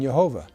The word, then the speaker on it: Jehovah: pronunciation of the name rabbis in the 16th century pronounced the consonants Yad vad with the vowels of Adonai or Lord resulting in yehovah this all has nothing